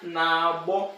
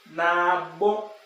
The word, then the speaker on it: na-agbọ: So nkịta na-agbọ. This AGBO here, for you to intend barking, it has to be pronounced using middle tone. Middle tone. Na-agbọ.